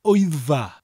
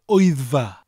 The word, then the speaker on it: Wyddfa: Now, wyddfa sounds like somebody shouting, Oi, it's far away from here.